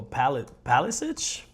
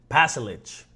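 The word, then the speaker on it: Pašalić: Croatian Marko Palisic? Let me see how you pronounce his name again. Pasalic, my bad.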